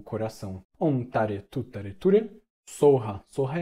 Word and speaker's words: soha: Em sânscrito é svaha, mas em tibetano a gente fala soha. Soha. Então, o que, que a gente faz? A gente pode fazer um mantra. Om Tare Tutare Ture Soha, Om Tare Tutare Ture Soha.